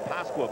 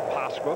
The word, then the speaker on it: Pasqua: Everyone has been calling him Pasqua, but of course that's not quite the pronunciation. Well, players don't want to get too hung up on. It used to be the same thing with Mike Pagliarulo or Pagliarulo, but Danny said it's really Pasqua, but a lot of people say Pasqua.